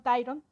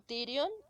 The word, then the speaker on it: Tyrion: Y con Tyron, Con Tyrion, Tyrion. Ay, porque yo no pronuncio bien las cosas.